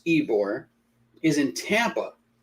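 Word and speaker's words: Ybor: on something uh just came in ebor okay pronounce ebore is in tampa like bourbon street in new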